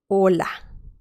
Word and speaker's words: hola: letter with vowels is so we can see that this letter is mute doesn't have any sound with vowels some examples hola yarn okay so we